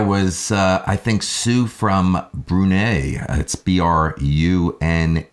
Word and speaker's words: Brunei: ahead listen there was I think soo from Brunei sbr un e I did I pronounce that correct I brunei Bruno yeah where